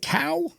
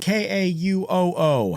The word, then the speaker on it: Kauoo: Is it Kauoo? Like moo cow? Kauoo? K-A-U-O-O.